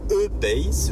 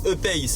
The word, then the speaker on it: E-Pace: Bon, alors, la Jaguar en question est une E-Pace, je prononce E à la française, E-Pace si vous préférez, pour ne pas confondre avec la I, voire I-Pace, donc avec un I comme Isidore, qui est la version toute électrique.